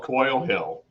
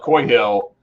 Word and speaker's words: Coy Hill: find a bottle of Coil Hill, Coy Hill? I'm saying it wrong. I keep saying Coil. That's wrong. Anyway, you guys find a bottle of Coy Hill and you are willing